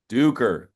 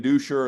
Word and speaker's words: Duker: Fellas, we were saying Dusher a little too much. It is spelled that way, but it is Duker.